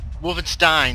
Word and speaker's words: Wolfenstein: back with Castle Wolfenstein Wolfenstein that's how it's actually pronounced now I have um